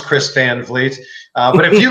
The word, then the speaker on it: Chris Van Vliet: having me on and also thank you for pronouncing my name correctly I know it doesn't look the way it sounds Chris Van Vliet but if you like Pro Wrestling you probably